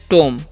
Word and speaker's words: tomb: ठीक है, TOMB है, तो इसे हम पढ़ते हैं टोम। क्या पढ़ते हैं जी, टोम, बी साइलेंट है।